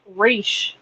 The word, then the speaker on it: Ra's: they even say well most people refer to him as Ross but it's actually pronounced race yeah yeah even before